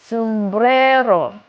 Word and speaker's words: sumbrero: Oh, sumbrero. The second to last syllable you have to put stress on always the second.